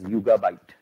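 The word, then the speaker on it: Yugabyte: is 100 open source so and it's it's pronounced as yoga byte um or the limitations that I mentioned earlier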